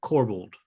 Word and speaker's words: Corbould: And the nominated team is Alex Woodka, Simone Coco, Jeff Sutherland, and up again, Neil Corbould.